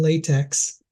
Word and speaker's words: LaTeX: looks like to have a full document in LaTeX. Yeah. So let me see. And just so you know, the actual pronunciation is latex.